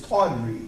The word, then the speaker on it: tawdry: And here again, just in case you don't catch my pronunciation, the adjective here is tawdry, T-A-W-D-R-Y.